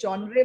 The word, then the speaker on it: genre: on the content and genre of the programs. ये genre word है, genre भी बोलते हैं, genre भी बोलते हैं. genre. हाँ, genre भी बोलते हैं, genre भी बोलते हैं. इसकी दो pronunciations है.